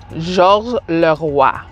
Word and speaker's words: Georges Leroy: Georges Leroy. That's really how you say it in French, with the rolling of the R's. Roi.